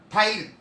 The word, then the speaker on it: ptyalin: Scientific name of the salivary amylase is called ptyalin. What we call? Ptyalin. P silent. So that's why ptyalin. Okay, clear? P-T-Y-A-L-I-N. Ptyalin. But P silent. Silent letter.